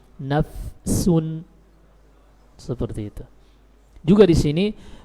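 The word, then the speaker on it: نفس: Ketika sukun, fa ini sering hilang. Apalagi kalau bertemu dengan huruf-huruf yang jauh makhrajnya dengan bibir. Seperti membaca ya ayyatuhan nafsul mutmainnah, nafsun. Nah ini sering nafsun, orang langsung baca nafsun. Ini tidak tepat. Tapi harus disempurnakan dulu huruf fa sukunnya, nafsun.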